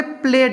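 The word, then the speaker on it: played: ठीक है, तो इसीलिए यहाँ पे प्लेड हो गया, क्योंकि लास्ट में ले है, हिंदी का उच्चारण में देखना है।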